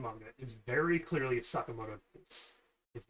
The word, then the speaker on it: Sakamoto: There's like the actual pronunciation is Sakamoto. Their pronunciation is Sakamato.